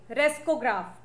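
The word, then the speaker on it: Crescograph: Okay, रेस्कोग्राफ next हमारे पास आता है। रेस्कोग्राफ instrument for recording growth of plants, देखो डिफरेंट है, ठीक है, सी साइलेंट होगा।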